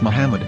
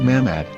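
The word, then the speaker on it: מחמד: yehuda's Hebrew English dictionary it is correctly pronounced as Muhammad not mammad so how we're going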